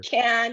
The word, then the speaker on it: Cannes: They have a little do's and don'ts, and they taught you how to say the word properly. It's Sure. can as in beer can.